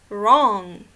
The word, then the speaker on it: wrong: okay nope other examples wrong you don't say we wrong okay the W is silent because of what because the W is followed by the letter R they cannot go together